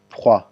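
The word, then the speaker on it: froid: اکثرا به تاسو اکثره ځایونه کې لیدلي په فرانسوي ژبه کې چې دغه اخیرنی چې کوم حرف دی لیټر دی دا نه تلفظ کېږي. صحیح دی؟ نو تاسو وایئ فخوا، فخوا.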